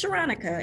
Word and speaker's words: Sharonica: Now, my name is Sharonica. It's phonetically spelled Veronica.